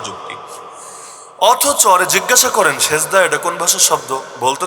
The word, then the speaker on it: সেজদা: অথচ আরে জিজ্ঞাসা করেন সেজদা এটা কোন ভাষার শব্দ? বলতে তো পারবে না মূর্খ, তাও যদি বেশি পারে তাহলে বলবে এটা আরবি শব্দ, যদিও মূল উচ্চারণ হলো সাজদা, বাংলায় এসে হয়ে গেছে সেজদা।